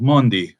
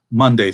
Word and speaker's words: Maundy: that simple for us this is called Mundi Thursday now if you aren't careful in your pronunciation it'll sound like Monday Thursday which just sounds like we're confused about what day this really is